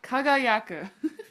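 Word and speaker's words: 輝く: It is kaga. Kagayaku.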